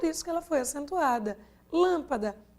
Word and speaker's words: lâmpada: Lâmpada, olha a última, dá. Penúltima, pá. Quem é acentuada? Lã.